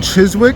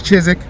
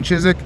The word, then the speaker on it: Chiswick: I am in Chiswick, which is No, I said it wrong. It's Chisik. You don't say the W. Don't say the W. I'm in Chisik.